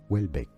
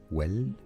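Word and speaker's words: Houellebecq: Yes, ch in French is pronounced as essay. Michelle Michelle. Wellbeck. Wellbeck.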